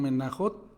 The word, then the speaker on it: Menachot: ustedes googlean Talmud Mejanot, solo que mejanot ellos lo escriben mechanot, la J ellos la hacen con ch. Entonces dice Menachot o nosotros ellos lo pronuncian menajot 45a.